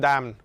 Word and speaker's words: DANM: But anyways, it's pronounced DAM, and it stands for DAM Another Network Provider, or manager, sorry.